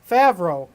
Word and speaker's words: Favreau: as for is that am I saying it right Fred no that's not right favro pretty much everything he